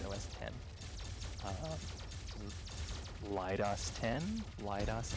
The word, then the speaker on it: OS X: Because like on Mac, even though it's the letter O, the letter S, the letter X, it's not OS X. It's actually pronounced OS 10.